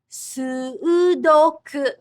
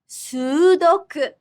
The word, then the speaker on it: sudoku: Similarly, the word sudoku in English has 3 syllables. But in Japanese, there's a double vowel, so it's 4 syllables. Sudoku. Sudoku.